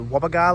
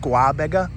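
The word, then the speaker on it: Gwabegar: station was part of the wero Wang to Wagar line I'm pretty sure it's pronounced Wagar every time I said the word guaba I was sort of I was sort of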